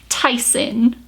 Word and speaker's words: Theisen: But my name now is not, it's Theisen. Don't pronounce it Theisen because I will come for you, okay?